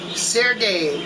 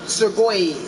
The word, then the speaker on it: Sergey: it also the crookneck the correct pronunciation for this person this is another person you run across this is sergey sergey not surgoid sergey i believe his name is russian this is sergey cheswig